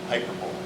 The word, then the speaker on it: hyperbole: Or as some people like to call it, hyperbole. That was correct. Nice emphasis. Yes, you have to have the emphasis on the right syllable.